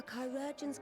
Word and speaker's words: chirurgeon: assured, he will receive the finest care our chirurgeons can provide. Oh, it is pronounced chirurgeon. I thought it was like gal, where it's just pronounced like jail.